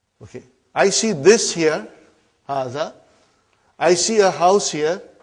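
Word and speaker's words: هذا: Haza. See, it is pronounced like haza. But this alif is not written.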